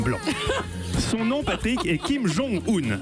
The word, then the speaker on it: Kim Jong-un: Son nom, Patrick, est Kim Jong-un, accent tonique sur le jong. Le bonhomme est tatillon. Si vous l'appelez encore une seule fois, Kim Jong-un.